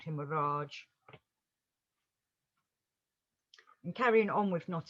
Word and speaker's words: Orage: playwright George Bernard Shaw used to say his name Orage in a French way, and it kind of caught on, and then everyone called him Orage.